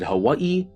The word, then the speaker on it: Hawaii: As I mentioned before, the Hawaiian language was not standardized yet, so both the V and W still existed and were used interchangeably. Some people said Hawaii, some people said Hawaii, and both were valid pronunciations.